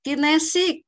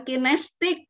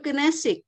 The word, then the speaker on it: kinesik: ejaan lama nahu dalam pelafalan kinesik bukan kinestik tadi ya ajmal saya mendengar kinestik yang benar tuh kinesik ya tolong dilihat lagi